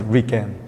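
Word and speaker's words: RIKEN: fourth character and attach them so this is pronounced as Ren and many years ago Ren in English was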